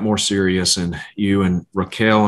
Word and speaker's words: Raquel: serious and you and Raquel, am I pronouncing your name correctly? That's right, Raquel, yes.